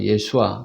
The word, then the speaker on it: 예수아: 여러분, 여호수아는 우리가 번역해서 여호수아라고 읽지만 사실은 히브리어로 바꾸면 예수아인 거죠. 예수아, 그죠?